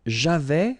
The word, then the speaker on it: j'avais: J'avais, final S not pronounced.